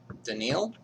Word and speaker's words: Danille: So your name is Daniil? Yeah, that's how you pronounce it, but people also call me Dani.